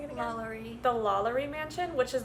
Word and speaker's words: Lalaurie: They talked about the, how was he pronouncing it again? Lalaurie.